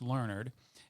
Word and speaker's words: Learnard: sitting with kim lernard which i've been saying your name wrong sorry about that it's lernard and she's running for mayor